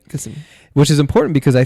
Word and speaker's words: Gethsemane: Gethsemane. Gethsemane.